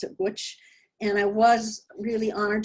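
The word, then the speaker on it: Łódź: art triangle in um which uh poland we pronounce it lootz it's lodz but they pronounce it which and i was really honored to be one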